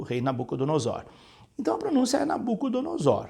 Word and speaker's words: Nabucodonosor: você escreveu aqui Olívia Mas essa palavra se pronuncia Nabucodonosor Nabucodonosor é o nome